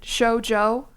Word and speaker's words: Shojo: Showjo, am I saying it wrong? Show like the V disgraced VTuber company V Showjo. Okay, so that's good.